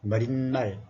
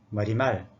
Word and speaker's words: 머리말: 반대말 그러시지 반대말, 머릿말, 인사말 하지 마세요. 인사말, 머리말, 반대말, 머리기사, 예사소리 이렇게 발음하십시오.